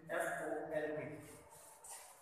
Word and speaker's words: folk: जैसे कि इसका एग्जांपल है, for example we कैन say that a word in English is FOLK. So this word is pronounced as folk. L sound doesn't come in between because between those two letters there is no sound.